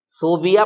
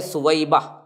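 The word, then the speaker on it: ثویبہ: ہے حضرت سویبہ کا۔ صوبیہ پڑھتے ہیں بہت سے لوگ، غلط ہے، تلفظ ہے سویبہ۔ یہ دراصل ابو لہب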